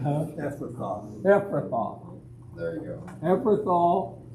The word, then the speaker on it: Ephrathah: How do you pronounce that name? I'm not going to. Ephrathah. Huh? Ephrathah.